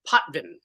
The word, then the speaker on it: Potvin: do I jump in uh last name is pronounced poin okay so potman and you are a